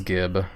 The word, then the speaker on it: gib: Or is it jib? I don't know. I always pronounce the word as gib. Some people pronounce it as jib, though.